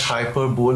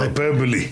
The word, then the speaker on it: hyperbole: that's right not hyper bowl but hyper hyperbole.